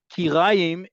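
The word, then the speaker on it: כיריים: Kirayim is a stovetop. The way many people pronounce um, certain parts of, let's say, chicken, like chicken legs and thighs, as kiraim. Kiraim, when it comes to chicken, is kuf resh ain. This is kuf yud resh.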